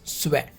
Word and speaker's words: suer: The pronunciation of this is suer.